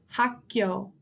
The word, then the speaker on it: 학교: So if we said hak, then it would be 2, right? Hak. So hak, and then we have 기역 plus 요, right? 교. 학교, 학교.